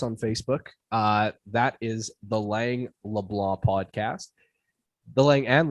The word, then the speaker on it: Lang: Lang as rhymes with dang.